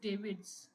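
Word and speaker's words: Davids: रिस डेविस actually history में अगर आप देखें तो रिस डेविस नाम के एक तो थे थॉमस विलियम्स रिस sorry it इज नॉट डेविस इट इज डेविड्स यह स्पेलिंग गलत हो गई।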